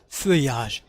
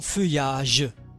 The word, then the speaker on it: feuillage: l'arbre perd son feuillage. عندما هاد الحرفين بمعنى ال تنطق ياء. son feuillage.